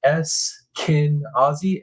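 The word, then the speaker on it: Eskenazi: from Indiana local and you pronounce it es kinazi eskinazi eskinazi Hospital thank you thank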